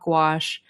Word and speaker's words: gouache: And if y'all don't know about gouache, I pronounce it and I've been told gouache like squash and it's kind of watercolor's cousin.